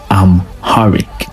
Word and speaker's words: Amharic: The word Amharic is pronounced Amharic, and it is widely spoken in Ethiopia today.